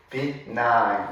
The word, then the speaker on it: benign: It seems natural to describe certain environmental conditions as extreme, harsh, benign, or stressful. 자, 이 단어 발음에 주의하시고요. benign 이렇게 읽어줍니다.